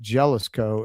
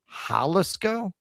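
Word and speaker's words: Jalisco: It's not Jealisco. It's pronounced Haliscoco. Haliscoco. Halisco.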